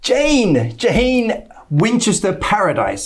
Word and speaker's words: Jane Winchester Paradis: Jane Winchester Paradis, is that Correct. correctly pronounced?